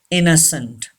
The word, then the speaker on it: innocent: innocent yes and is second n is not pronounced and e is also not pronounced innocent say this word innocent